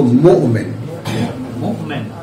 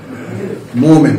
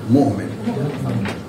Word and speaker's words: মু’মিন: উচ্চারণটা করেন ঠিক মতো, মুমিন। হ্যাঁ, মুমিন না, মুমিন।